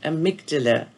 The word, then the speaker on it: amygdala: you heard and i'm not sure how to pronounce the word amygdala a-m-y-g-d-a-l-a amygdala if not you've certainly heard of a